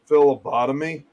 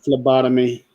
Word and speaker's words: phlebotomy: during her how do you want to say philobotomy yeah phlebotomy what's i've heard of lobotomies about phlebotomies what